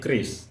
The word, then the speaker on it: QRIS: kita membenarkan lagi ya pron berarti Kris ya yang benar pronunciation yang benar Kris gitu tapi bukan keris ya bukan memang sengaja dibuat se-Indonesia mungkin makanya QRIS dibaca keris kayak ee senjata oh kayak